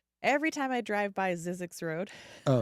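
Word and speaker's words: Zzyzx: You have a song that I always thought it was every time I drive by Zizzix Road.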